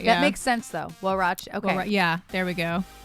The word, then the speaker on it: huarache: Huarache. What was it? Ra. Che. Huarache. But how is it spelled? Like exactly how it sounds, but with the Spanish alphabet.